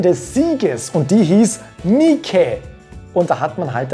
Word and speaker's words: Nike: Die Antwort lautet, sie heißt Nike. Das heißt, das E, im Englischen hier ein I ausgesprochen, wird am Schluss tatsächlich ausgesprochen. Ich weiß, im Englischen werden E's am Ende oft nicht ausgesprochen, ist hier aber nicht so, weil dieses Wort kommt aus dem Altgriechischen.